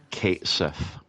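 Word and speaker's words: Cait Sith: Fantasy 7 rebirth this uh the character is pronounced Kate Sith I mean I'm not surprised just just uh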